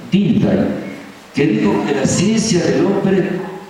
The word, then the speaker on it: Dilthey: Había un gran alemán, Dilthey, pronunciamos en alemán, Dilthey, que dijo que la ciencia del hombre no podía ser la ciencia de la naturaleza.